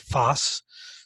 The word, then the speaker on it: FOSS: open source software that's sometimes referred to using the acronym Foss and that's pronounced Foss so you'll find as